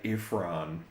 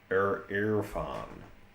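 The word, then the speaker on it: Irfan: I think I think it's I think it's pronounced like I'm so tempted to say ifran but it's an erran. So I r f a n So, he's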